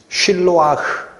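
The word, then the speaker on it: שִׁלֹחַ: 가서 이렇게 클릭을 하면 원래 히브리어로는 쉴로와라는 단어입니다 요걸 헬라어로 바꿔 쓰다가 실로암이라고 바꿔 쓴 거예요 원래는 무슨 뜻이다 쉴러와 이거는 발음이 안나요 히읗 발음 무성음 쉴러와 그런데이 실로와라는 단어는 히브리에서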